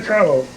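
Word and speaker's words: Carlow: Family Carlo. Carlo. Carlo, yeah. Spell it.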